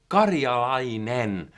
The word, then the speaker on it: Karjalainen: My name is Karjalainen. That's the Finnish way of pronouncing it, but you can call me this guy.